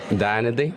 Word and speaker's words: Dayanidhi: Dayanidhi.